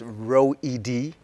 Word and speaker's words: Reouhidi: did a pretty good job of pronounce the pronunciation its row Ed so row Ed johar oh so in my